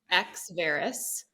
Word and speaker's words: Exverus: before we went live was how do you pronounce it and it's you did it correctly which is amazing X Varys and exverus is a Latin word that means